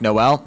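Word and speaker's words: Noël: In French, Christmas is Noel, pronounced like Noel.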